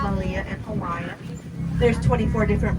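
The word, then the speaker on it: melia: They're pronounced Malia in Hawaiian.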